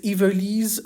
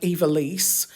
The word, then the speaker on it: Yvelise: And the third name on the list is Yvelise, which is one of my absolute favorites. In English, it would be pronounced something like Yvelise, but it's spelled Yvelise, and it's like a portmanteau of Yvette and Lise, Yvelise, and it's a fairly contemporary name.